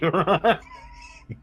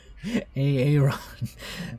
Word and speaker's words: Aaron: I'm Aaron. Hey, Ron. Aaron. Okay, now we know the proper pronunciation of his name.